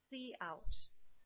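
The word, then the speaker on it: cout: to use this guy which is pronounced see out see out okay that Kowt see out and basically see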